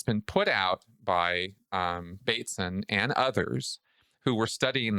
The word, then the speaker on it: Bateson: Well, if we go with Bateson, and I was horribly mispronouncing his name through our entire podcast last week. Oh I no. kept calling him Batson. Okay, Gregory Bateson.